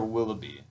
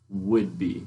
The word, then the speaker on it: Whidbey: Is it Woodby or Willoughby? Woodby. Woodby. For some reason I remember Willoughby being But it's spelled Whidbey.